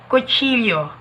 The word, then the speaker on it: kutsilyo: In Espanyol, kutsilyo. Kutsilyo. Kapag may makikita po kayong L or double L or L-double, yung pag-pronounce po nito ay Y or Y.